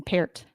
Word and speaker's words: Peart: Number 79, Pert. Is that Peart? That's how you say his name, Peart.